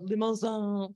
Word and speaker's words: Limousin: what word is that think like limousine but you say it like you're really french oh it comes from the limousine forest in france she's